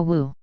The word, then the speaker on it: Wu: utilize the powerful Mantra Wu this Mantra is pronounced like a w and wisely imitates the howl or sound of the hurricane when blowing within the riffs of the mountains this brother could never